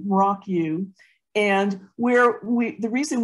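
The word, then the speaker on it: Mrauk U: had to get to um rock you so that's spelled m-r-a-u-k and then second word is just a u Rock U and where we the reason we were going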